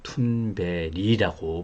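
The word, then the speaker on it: Thunberg: 영어 스펠링으로 읽으면 그레타 선버그가 될 것 같은데요. 툰베리라고 발음을 한다고 합니다.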